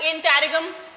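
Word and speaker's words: interregnum: अब देखो ये वर्ड इंटेरिगम, इंटेरिगम, इंटेरिगम, इंटेरिगम, इंटेरिगम, इंटेरिगम होता है वो, GN जो है उसमें वो है साइलेंट, इंटेरिगम होता है।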